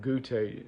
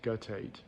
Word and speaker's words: guttate: guttate psoriasis I've been I had always my whole life called it Gucci and I guess the proper pronunciation is guttate guttate but uh this guttate